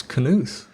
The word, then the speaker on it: Knuth: to mention Donald Knuth as I say his name Knuth Knuth yes as says Wikipedia I always thought it was new that I was going new for years and then I looked up his canoes so Knuth he's at